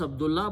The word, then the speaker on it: Abdullah: Now, name, okay, when you stop here, you can say Abdullah, okay? You can pronounce Abdullah, but it has to be written Abdullahi.